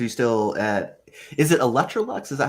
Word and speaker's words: Electrolux: life updates are you still uh is it electrolux is that how you say it yes that's